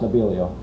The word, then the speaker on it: Nebelio: spell it with s n but it's really nabilo it's pronounced nabilo that's that's a followup right there oh I'm